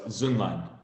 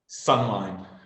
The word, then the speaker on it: Zunlan: Well, it's German, and if you actually pronounce it with the two umlauts over the O, it's Zunlan. Okay, and but you've become accustomed to Americans calling you Sunline.